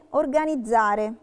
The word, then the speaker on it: organizzare: E per altre volte si pronuncia zeta come organizzare.